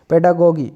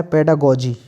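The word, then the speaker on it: pedagogy: अब इसमें इन्होंने कैसे पढ़ा है, पेडागोजी, पेडागोजी। आप इसको पेडागोजी भी पढ़ सकते हैं। और अगर स्पेलिंग अगर आपको सही लिखना है तो आपने कहा पेडा और ये गोगी, ठीक है, गोगी, ठीक है। तो इसको वैसे पढ़ना है पेडागोजी, लेकिन स्पेलिंग थोड़ा सही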